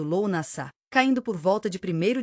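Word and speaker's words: Lughnasadh: O ciclo continuou atingindo seu pico com Lugnazado, pronunciado Lou Nassá, caindo por volta de primeiro de agosto.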